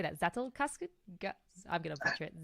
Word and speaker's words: Zettelkasten: Zettelkasten? I'm going to butcher it. Zettelkasten? Zettelkasten.